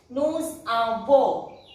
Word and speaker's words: nous avons: Otherwise this S won't be pronounced, but if it is followed by a vowel, the S should be pronounced nous avons.